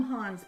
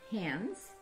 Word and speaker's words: Hans: her husband hans oh i always call him hans but it's really it's hands that's how they pronounce it and uh hans is